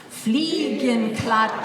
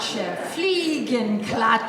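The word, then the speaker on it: Fliegenklatsche: swatter why don't you say it with me fle and clut fle and clut fle and CL it yeah that's how to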